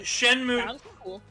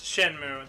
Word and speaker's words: Shenmue: game it's called shenman shenmue ii i don't know how to pronounce that shenmue yes shenmue that is a dreamcast game